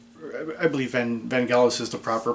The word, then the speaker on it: Vangelis: and i believe will always be but um ben jealous i believe and van gaalis is the proper pronunciation but for 32 years i've been mispronouncing